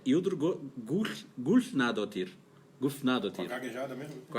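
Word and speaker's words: Hildur Guðnadóttir: Agora vou tirar onda, porque essa letrinha que tem parece um D cortado assim em cima, se pronuncia... Nossa. Quando eu estive na Islândia, eu aprendi. É Hildur Gulfnadottir.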